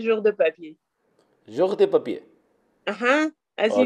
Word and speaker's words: Jour de Papier: cuando lo dicen como George the Paper, como en otros idiomas, se escucha chistoso. Pero ellos ya, como lo digan, está bien. Pero pronunciado así en francés se dice Jour de Papier.